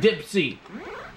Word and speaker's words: Dipsy: no I I realize I've been saying the name wrong are you seeing tips in with Dipsy all right with the color scheme of this